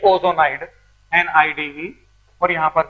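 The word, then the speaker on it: ozonide: ये आपका बन चुका है, इट इज ओजोनाइड।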